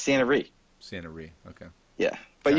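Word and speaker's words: Ciena Ree: Is it Sienna Ray? Yeah, it's Santa Ree.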